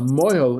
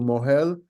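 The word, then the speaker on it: mohel: of a circumcision so a mo is the one who does the bris but it's actually in Hebrew moel and breit what people uh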